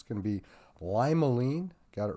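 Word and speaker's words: limonene: episode of terpene talk this time easier to pronounce uh terpene sam it's going to be limelean got it right that time limolin's a common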